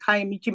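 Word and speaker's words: Kiamichi: You know, when I when I go to Oklahoma to the Chopa Territory in the Caamichi Mountains, did I say it right?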